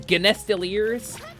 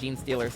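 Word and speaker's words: genestealers: play it full of genestiliers I think it's pronounced Jean Steelers actually but you know okay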